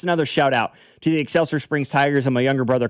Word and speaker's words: Excelsior Springs: Somebody in the text line said, finally, someone pronounces the town without the emphasis on the IOR.